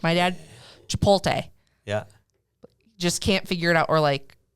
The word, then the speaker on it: Chipotle: Oh, Chipotle. Okay, just checking. So you're not true dad level yet. Well, you could also pronounce it chipotle. Oh no. I like this one. Chipotles.